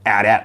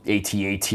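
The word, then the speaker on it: AT-AT: an ad here for an add at model or atat whatever pronunciation you prefer yeah bet Trail is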